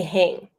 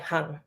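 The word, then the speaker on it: Hạnh: They say hang, like a wet towel on the back of a bathroom door. They don't know if I am male or female. Hang. It is harsh and jagged. That is not my name. It is pronounced softly, like hang, lighter than what you are hearing, like a gentle breeze on a lush summer night.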